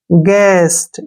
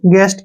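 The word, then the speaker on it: guest: तो जी का जो यू का जो उच्चारण है ना वो साइलेंट हो जाता है यू को हम पढ़ते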